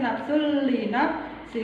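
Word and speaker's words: نَفْسٌ لِّنَفْسٍ: Ini nafsun tapi membacanya tidak nafsun tapi nafsul li nafsi karena ada di huruf di depannya ada bertemu dengan huruf idgham bila hu.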